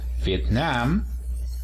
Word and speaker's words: Vietnam: en cuanto a país decimos vietnam el acento se encuentra en la última sílaba vietnam en cuanto a nacionalidad tiene cuatro sílabas el acento se encuentra en vietnam is última sílaba entonces